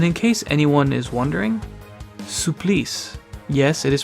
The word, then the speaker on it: Supplice: two oh and in case anyone is wondering supplies yes it is pronounced that way is a French word that